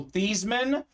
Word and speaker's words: Theismann: And his name was actually pronounced Joe Theismann. Folks at Notre Dame said, let's change your name to be Theismann so we can say Theismann for the Heisman.